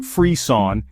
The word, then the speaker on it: frisson: Fisson pronounced freon is derived from the French word for shiver or chills.